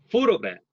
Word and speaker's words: photograph: 자, photograph. 자, 이거를 발음을 할 때는 첫 음절에 강세가 옵니다. 주강세가 오고 두 번째 음절 약세, 세 번째 음절도 강세가 오는데 이건 보조 강세예요. 그래서 photograph 이런 식으로 발음을 하죠.